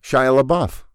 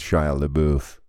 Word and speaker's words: Shia LaBeouf: how to really pronounce oh it's not hard Shia labeouf yeah okay yeah that's what I were that's what I instinctually wanted to go with with Shia LeBouf yeah but that's wrong it is wrong and